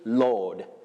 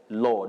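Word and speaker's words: laud: to praise you say lord lord with the long sound o l-a-u-d lord to lord somebody he loaded the effort lord it is the same same pronunciation with l o r d you can see the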